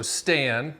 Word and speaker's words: Stan: Well, first of all, it helps if your name rhymes with "and," so Stan.